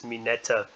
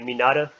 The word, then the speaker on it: Mineta: keeps mispronouncing his name it's mineta or like how oh for neverworld likes to pronounce he'd be saying oh has for never what says he says his name be like minada yeah i love i love how forever world pronounces but it's not no meena uh minata no it's me neta she is a